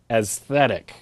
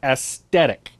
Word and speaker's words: aesthetic: The word is pronounced aesthetic, all right? Not aesthetic. Be imbued with this knowledge